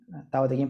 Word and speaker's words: Tao Te Ching: En Tao Te Ching pronunciado.